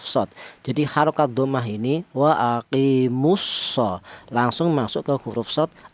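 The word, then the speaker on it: وَأَقِيمُوا الصَّلَاةَ: Wa aqimus tidak dibaca wa aqimul enggak. Karena apa? Lam matinya dilebur ke huruf shad.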